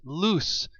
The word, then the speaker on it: loose: Etc this word is loose it rhymes with goose it's an adjective meaning